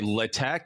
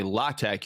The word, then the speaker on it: LaTeX: smart very smart uh she taught me how to say latex uh she corrected me back in like I thought it's latex so there as long as you get the sound at the end as long as you don't say the X right there's I did you can say Le Tech you can say La Tech you can say latex as long as you